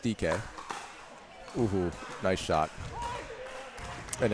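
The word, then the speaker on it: Dike: you know it's uh it's spelled d-i-k-e but it's pronounced DK nice shot and it's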